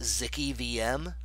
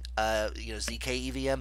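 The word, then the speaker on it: zkEVM: And lastly, just to front run one of the questions, it's actually pronounced Zicky VM. I know everyone's been saying ZK, ZK EVM, but it's Zicky VM is what I'm declaring.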